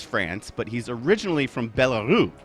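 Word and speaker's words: Belarus: living in Paris France but he's originally from bellaru right did I pronounce that correctly yes yeah he's originally from bellarus which used to be bellaria right back in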